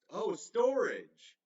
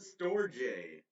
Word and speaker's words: Storj: Well, Storj pronounced as, storage. Okay, I've always called it Storj.